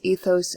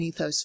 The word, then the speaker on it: ethos: rhetoric, his famous logos, ethos, and pathos. I choose the American pronunciation of that because I don't speak Greek. I think it would be logos, pathos, ethos. But tomato, tomato, right?